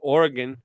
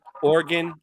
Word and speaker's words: Oregon: So Oregon, he pronounced it Oregon. I pronounce it Oregon. And we're both cool with it. In his reality, it was Oregon. In my reality, it was always Oregon. Orange, right.